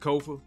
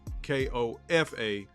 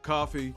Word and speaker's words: Kofa: I am your host, Kofa, K-O-F-A, not coffee, not kufu, not Kofi, or any variation thereof. Kofa rhymes with sofa.